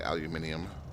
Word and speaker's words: aluminium: We are picking up some aluminum here, or as the Brits say, aluminium.